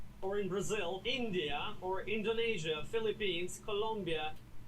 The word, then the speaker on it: Indonesia: Long e like green beans. Indonesia.